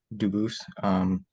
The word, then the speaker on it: Dubus: spelling in America, and they do pronounce it Dubus, but you said you pronounce it Dubus, Dubus? as the original Dubus, as the original French.